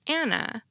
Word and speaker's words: Hannah: For example, because French has no H sound, many French speakers pronounce Hannah like Anna, no matter how much the Hannahs may try to insist otherwise.